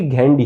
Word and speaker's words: Ghandy: आप घेंडी कहिए, गांधी कहिए, पर उनका असली नाम था फिरोज जहांगीर घेंडी, जिसका स्पेलिंग था GHANDY।